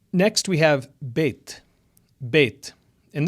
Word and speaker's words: bet: Next, we have bet. And this makes two sounds. B as in boy and V or V as in very.